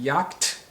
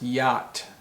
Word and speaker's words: yacht: word y-a-c-h-t is it yakt no it's actually pronounced yat yat so the c and the h are silent or you can say the c is silent yat and a yad